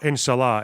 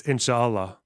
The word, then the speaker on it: inshallah: the way it's um it's not inshah it's inshallah right it's an extra syllable in thereit OHS oh